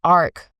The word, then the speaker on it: arch: And then matriarch is when you think of Arch, it's spelled a r c h. So it's really arch.